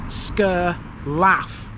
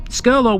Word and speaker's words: Skirlaugh: brilliantness of British pronunciation if you look at the name of this place written down you think it says scur laugh you think what's funny about it well I don't think there's anything funny about it but then again you wouldn't be pronouncing it right this is Scurlock here's my disclaimer